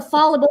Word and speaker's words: fallible: a minor one but i used to pronounce it fallible i was like yeah it makes sense because like if you fall that's a fallible thing to have done is like falling yeah and i guess it's fallible i think that's an end